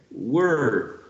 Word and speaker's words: were: Were. So it's not the same when you say, for example, where, W-H-E-R-E, because this one is pronounced with the sound E, where, and this one is were.